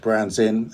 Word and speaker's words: Brands In: got Rick Lowe from Brands In. Is that pronounced correctly? That's correct. Brands In, and we're going to be throwing some more questions to him.